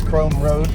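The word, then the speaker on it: Krome: This is Chrome Road, spelled with a K. K R O M E.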